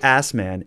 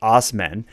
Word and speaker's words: Asman: might as well Dave asman is sticking it to the Man by sticking it to the back of his truck when asman pronounced osmen applied for a personalized